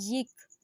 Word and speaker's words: یک: ہے وہ ہے یک۔ یا کے نیچے زیر لگاتے ہیں، یک۔ یک یعنی ایک، توجہ